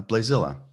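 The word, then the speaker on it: Blaesilla: to go back here in my notes uh blazilla yeah b l a e s i okay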